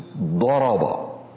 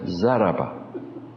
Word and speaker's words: daraba: To hit, the Arab, the true way of pronouncing is daraba. Persian way is zaraba. A big difference.